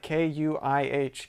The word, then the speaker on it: kuih: If you look at it, actually, in Malaysia they do spell it Kuih, kui. Well, Aaron, that's great, but to our Malaysian viewers, we bleed red, white, and blue, and we don't care. We're going to pronounce it QE because we're right, and we're Kui is Americans. Like, kui. It's kui.